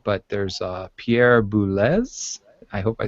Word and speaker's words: Boulez: Oh, I was just going to say, I think this is one of those cases where it's not the French pronunciation that you expect. I think it actually is with a Z sound rather than Pierre Boulez.